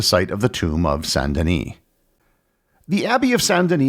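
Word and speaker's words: Saint-Denis: And for the record, I will be using the French pronunciation of Sanden for the rest of the episode, not the English St. Dennis.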